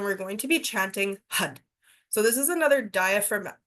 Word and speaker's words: Har: going to be chanting Hud. So, this is another diaphragm diaphragm movement. Um, it's actually har, but we pronounce it Hud.